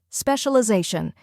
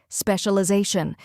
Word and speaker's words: specialization: carries the main stress finally shun which sounds like Shun in caution now let's put it all together specialization try repeating after me specialization now a little faster specialization and at full speed